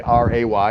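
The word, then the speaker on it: Rey: is my lovely wife Ray what so and it's spelled re y but if you want to say r a y you can call her Ray you can call her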